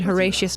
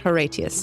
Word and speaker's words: Horatius: We were having a discussion before this about whether or not they're like being extremely Latin about the pronunciation of things. Yeah. And they're not, because she Okay. said Horatius, not Horatius.